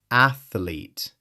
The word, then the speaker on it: athlete: But the word is only 2 syllables. Athlete. 2 syllables. The TH flows directly into the L.